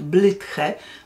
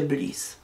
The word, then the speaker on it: Blythe: Z koleżankami długo czytałyśmy Gilbert Blythe, bo nie wiedziałyśmy, że czyta się Bliss.